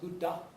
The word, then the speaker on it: Buddha: man we know of as the Buddha properly pronounced Buddha who that that's actually a title it's much